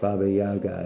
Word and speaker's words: Baba Yaga: To the Slavic people of Eastern Europe, Baba Yaga, pronounced Baba Yaga, is the old woman of autumn, whose spirit lived in the last kernel of harvested grain.